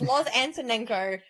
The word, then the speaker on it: Loz Antonenko: in my name and a lot of people don't know how to say my name but it's Lo answer Eno if you read it and you say it you'll get it right if you overthink it